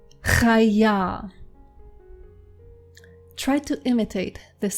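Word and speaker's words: חיה: It is chaya. Chaya. Try to imitate this sound. If you are not used to pronouncing ch, try to imitate it. Try to practice.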